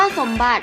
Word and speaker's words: สมบัติ: ค่ะ คำ ว่า สมบัติ คำ ว่า สมบัติ ใช้ ต่อ แต่ง กะ it เป็น ตัว สะกด นะ คะ อ่าน ออก เสียง เหมือน มี เด็ก สะกด และ ค่า ต่อ ไป